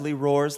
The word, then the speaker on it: Roars: the first days saying my name is Roars like a lion roars and I was terrified